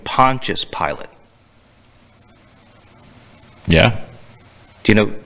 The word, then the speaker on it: Pontius: a conscious or unconscious pilot he was saying pontius pilate yeah do you know pontius pilate is a is a is a guy